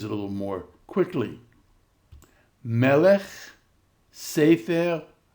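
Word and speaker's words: סֵפֶר: And notice the accent is now on the syllable before the e. Melech. Sefer. Boker. Mamlechet. Ketovet. Now read these a little more quickly. Melech, Sefer, Boker, Mamlechet, Ketovet.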